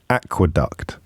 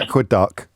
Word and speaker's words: aqueduct: Aqueduct. Is that a cartoon character? No, not aqueduct. Aqueduct. There's no silent T here. It's not like hasten.